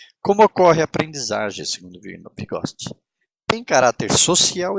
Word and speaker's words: Vygotsky: Me desculpa, mas esse nome é Vygotsky. Vou ler como se escreve.